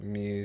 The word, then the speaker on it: Muse: field marketing at Muse am I saying it right is it Muse Muse not M no Muse okay which is a hospitality